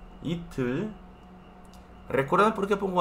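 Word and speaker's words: 이틀: Itul. Itul. ¿Recuerdan por qué pongo H? Solamente para distinguir pronunciación, ¿sí? Para indicar que esta T no suena como T en español, sino como T en inglés.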